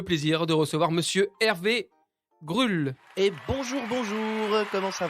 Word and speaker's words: Grull: aujourd'hui j'ai le plaisir de recevoir Monsieur Hervé grül et bonjour bonjour Comment ça va ça va